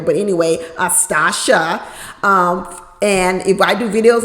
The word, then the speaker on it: Stacia: Last week I was calling her Stacia because that's the way it's spelled. That's the way I want to say it. You know, from California, we do CIA, like that's how we say it out here.